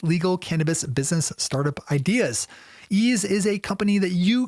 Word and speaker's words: Eaze: Ease is a company that you can feel good about doing business with.